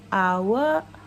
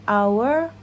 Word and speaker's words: hour: a a As in hour How as as in hour H is silent flower flow As in